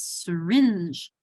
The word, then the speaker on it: syringe: And like syringe, it's not syringe, it's syringe. It has an accent on my second syllable, syringe. It becomes a sir.